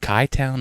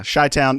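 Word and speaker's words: Chi-Town: did and went to what's is it called kai town is that like the shy town oh c-h-i i didn't know if you actually pronounced h though yeah shy town yeah so we went to uh just got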